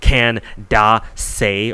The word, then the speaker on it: Candace: some people were like, why are you pronouncing your name Candace? It's supposed to be Can-da-se or whatever, it's like 3 syllables.